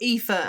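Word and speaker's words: Aoife: So, Epha and Mave are our friends who we've talked about on the the pod many times before. And Epha is spelled A O I F E.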